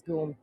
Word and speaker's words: GUM: also speak French and in French it's written like goom so it's clear that it's pronounced as goom so different without Christmas